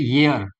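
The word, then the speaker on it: ear: अच्छा, example, AN, अच्छा, मुझे बताओ इसको क्या बोलते हैं, प्रोनाउंसिएट करो, उसको क्या बोलते हैं, एयर नहीं बोलते, इसको बोलते हैं ईयर।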